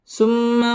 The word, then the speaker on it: ثم: ثم رددناه أسفل سافلين সুম্মা ওয়াজিব গুন্না সুম্মা র পুর হবে